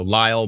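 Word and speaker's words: Lisle: yep uh early what's l-i-s-l-e elena you're the pronunciation expert yeah oh yes i've heard of lyle before yeah so lyle borden uh severe thunderstorm warning take this seriously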